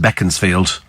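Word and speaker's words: Beaconsfield: know it's written beaconfield but it's always been pronounced beckon field that's that's how you that's how you pronounce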